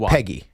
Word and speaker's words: Peggy: It's pronounced like Neggy. It's like Peggy.